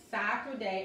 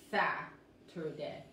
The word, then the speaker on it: Saturday: Escuchen esto, Saturday, aquí la A se pronuncia como A, la A corta, ok, la A corta es como A, ok?